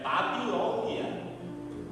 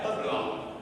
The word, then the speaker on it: Babilônia: Eles dizem blon está errado. É Babilônia, não é Babilonia.